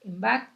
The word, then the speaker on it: Bach: como flores de bach el apellido de bach es de origen galés y la pronunciación de de la h bach es similar a la castellana y no como en los músicos alemanes de apellido tomógrafo que se pronuncia bajo solamente para saber un